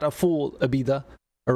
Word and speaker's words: Ibiza: So not only are they giving us, it's not a full Ibiza, all right? You got to say it like you got a lisp.